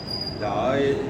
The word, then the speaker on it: ध्यायेत्: ध्याये तो ऐसा अगर बोलते हैं तो ता पूरा हो जाता है, ता आधा है, इसलिए आधे ता को आधा ता ही बोले, तो इसका उच्चारण करना पड़ेगा ध्यायेत।